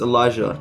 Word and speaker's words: Illager: Illager, pronounced Elijah, is the first, cheapest, and best performing captain.